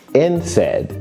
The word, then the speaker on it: NSAID: NSAID is how this is pronounced.